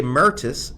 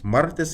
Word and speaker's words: martes: He used to say Mertis and Jueves. Nah. Martes y jueves. That's how you say it.